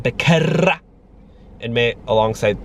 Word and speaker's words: Becerra: Can you guys roll your R's like that? Becerra.